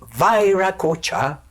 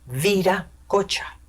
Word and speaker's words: Viracocha: Y Vairacocha es la manera de un personaje que habla inglés de pronunciar Viracocha, Vairacocha. Y curiosamente, siendo un nombre incorrecto, es el más conocido, Vairacocha.